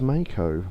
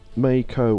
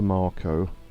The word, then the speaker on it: Mako: Mako or Mako, never Marco.